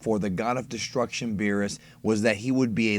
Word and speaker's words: Beerus: On a side note, Bills is an incorrect translation of his name. Beers, Beerus, or Birisu is the correct way to say it.